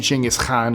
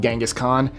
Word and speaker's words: Genghis Khan: Oh, and a quick side note, for those of you wondering why I'm saying Genghis Khan instead of Genghis Khan, he was Mongolian. That's how it's pronounced in Mongolian, so there you go.